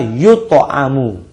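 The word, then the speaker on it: يُطْعَمُ: Ya, huruf-hurufnya sama sih, hanya beda harakat saja, hanya beda bacanya. Yut'imu, yang kedua adalah yut'amu.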